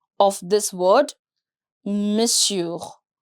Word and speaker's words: monsieur: Let me explain the pronunciation of this word, Monsieur. We have M-O-N, but for some reason we don't pronounce that. We keep it M apostrophe S-I-E-U-R. That's how we pronounce it.